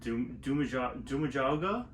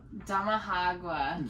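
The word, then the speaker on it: Damajagua: I'm gonna say this name wrong. Dumajauga? Damahagua. Yep, she said.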